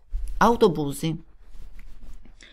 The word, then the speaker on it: autobus: donna sito donne autobus fate attenzione alla pronuncia boni kudelski team in autobus ma l'accento cade sulla o autobus autobus in un sexy